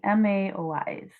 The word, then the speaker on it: MAOI: this category is the MAOIs. So if you pronounce MAOI, it's kind of like Maui, sort of. So I either think like Maui, like the Hawaiian island, or like Maui from Moana. Again, like they all have